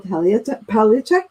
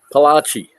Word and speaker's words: Palache: I have Paolik. Did I say it correctly? Palache. Palache. It sounds Italian.